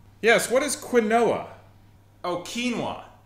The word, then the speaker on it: quinoa: Oh, quinoa.